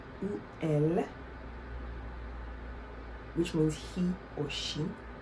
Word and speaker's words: elles: Please don't say ils or elles. The S is silent. Except, we're going to talk more about it, except if you're going to join it with a vowel, then yes, you may pronounce it.